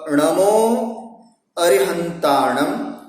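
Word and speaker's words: णमो अरिहंताणं: नमो अरिहंताणम, नमो सिद्धाणम, नमो आयर्याणम, नमो उवज्झायाणम, नमो लोए सव्व साहूणम। ये इसका शुद्ध उच्चारण है।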